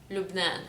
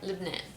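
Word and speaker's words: لبنان: If you want to say it correctly, it's Lubnan or Lebanon.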